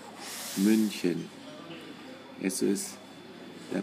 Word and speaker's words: München: se escribe otra vez m n c y münchen eso es la pronunciación en Do Cómo se pronuncia ahora es